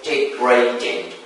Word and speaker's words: degrading: So in this case the stress falls on the second syllable, not on the